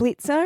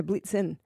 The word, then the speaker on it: Blitzen: Was it Dasher and Rudolph and I Prancer think and Blitzer. Blitzer, yeah. Yep, it was in there. But no, Blitzen. Yeah, Got its name wrong.